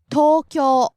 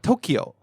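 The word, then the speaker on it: 東京: Next we have Tokyo. Tokyo. Tokyo. So we have rising and then staying high. Yeah. And for everyone out there it's not Tokyo. Yeah. Both are long vowels. Tokyo.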